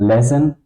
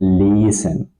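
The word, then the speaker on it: lesen: So this is the logic why it's not lessen you have to pronounce it leen.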